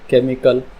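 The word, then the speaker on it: chemical: sound silent होंगी जैसे केमिकल chemistry technology यहां पर एच से पहले सी आया यहां पर एच की साउंड हो गई साइलेंट ठीक है एच से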